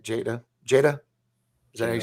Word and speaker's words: Jada: jane reference of course jetta jane how do you say it jada jada does that you